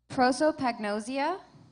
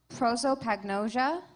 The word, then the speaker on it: prosopagnosia: Your word has 3 pronunciations: prosopagnosia, prosopagnosia, prosopagnosia.